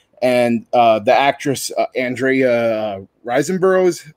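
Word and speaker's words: Riseborough: fan of mandy and uh the actress andrea reisenboro is how you say her last name um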